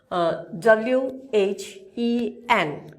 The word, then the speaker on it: when: আমাদের এখানে আছে আমাদের সাউন্ড সিম্বল অনুযায়ী যেটা আমাদের উচ্চারণ করতে হবে সেটা হচ্ছে what. Again I repeat, what. Then another word, WHEN.